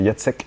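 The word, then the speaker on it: Jacek: Et donc je me permets de de te dire comment on prononce son prénom. C'est Yatsek. Du coup Jazek. Oui, c'est vrai que c'est Yek en polonais en fait.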